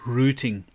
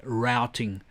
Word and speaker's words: routing: now we say in in the UK in South Africa we say rooting and I know for my American friends for the American audience you say routing routing rooting call it what you like it's spelled the same way so if I excuse